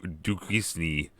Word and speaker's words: Duquesne: Yeah, Duquesne. The S is silent.